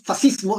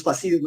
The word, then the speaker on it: fascismo: ¿No es fascismo? No, no es fascismo, es fascismo, porque en italiano, cuando tú leas SC, se pronuncia como sh, ¿sí?